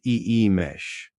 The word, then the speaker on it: Imix: The first or red harmony is represented by the gly calledx pronounced e mesh.